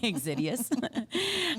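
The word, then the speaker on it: Xydias: the name um Alex xidious but it's like pronounce it right exidius um he started SoCal Speed Shop I mean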